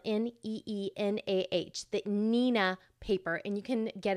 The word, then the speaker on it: Neenah: that most people recommend is the Neenah and that's spelled n-e-e-n-a-h the Nina paper and you can get it at our